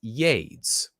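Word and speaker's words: YeDS: Pronounced or spelled capital Y, lowercase e. You get it? Yay. Capital D, capital S. Pronounced Yades.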